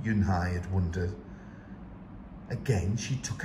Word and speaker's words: Eun Hye: and H II I it's pronounced Eun Hye oh it's you Hey